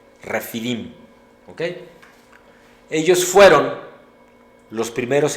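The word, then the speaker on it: Rephidim: La batalla contra los amalecitas se inició en Refidim, R-E-P-H-I-D-I-M, pero el APH se pronuncia como F, Refidim, ¿ok?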